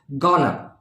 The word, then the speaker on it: gonna: in today's list Ghana follow the pronunciation Ghana now Ghana is made from two words going plus two going to so whenever we use going to instead of saying going to we can say Ghana now look at the example